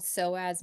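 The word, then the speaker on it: psoas: see don't know that it's called soas major and it's spelled PS OAS so anytime you see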